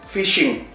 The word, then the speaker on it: phishing: Kamu masih ingat nggak di episode ke-8 ketika saya mengajarkan PH dibaca F. Jadi ini kamu harus bacanya phishing.